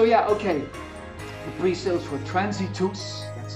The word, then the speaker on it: Transitus: The pre-sales for Transitus, that's how it's pronounced, Transitus, start next week.